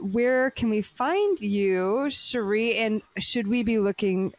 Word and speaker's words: Sherri: rmes with Capri because my first name Sheree rhymes with Capri um you can also